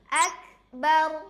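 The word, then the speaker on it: أكبر: Ak ak dan yang keempat ro sukun di akhir itu suaranya tebal. Soalnya sebelum ro ada huruf berbaris atas bar akbar. Jadi cara baca takbir yang tepat adalah Allahu Akbar.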